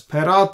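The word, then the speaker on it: פרת: fourth river is parat here we have the dagesh we pronounce as perath and if there is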